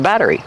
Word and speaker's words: battery: You have extra power from the battery. How do you pronounce battery? Battery. Battery. The double T changes to a fast D. Batter. Batter. Plus the R and a long E sound like green beans.